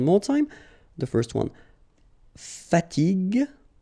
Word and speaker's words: fatigue: So as we said here, you should pronounce it G. Okay? So you get the word fatigue.